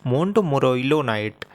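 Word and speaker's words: montmorillonite: थोड़ा सा प्रोनाउंसिएशन देखिएगा, मोंटमोरोइलोनाइट।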